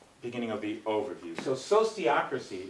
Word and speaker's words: sociocracy: So sociocracy, it's a kind of a funny word. Sociocracy, the word was invented by the same French philosopher, Auguste Comte, who came up with the word sociology. So, sociology, sociocracy.